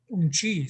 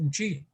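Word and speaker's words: uŋčí: Yeah, on the mom's side, all right, it's umchi. So your grandmother, your mom's side is pronounced umchi.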